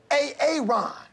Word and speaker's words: Aaron: you say it the first time I said A-A-Ron? Because it's pronounced Aaron?